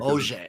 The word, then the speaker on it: Auger: So first of all, it's pronounced Auger. It's kind of weird. Auger. I like that. It's French.